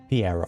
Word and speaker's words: Pierro: Pierro. Pierro.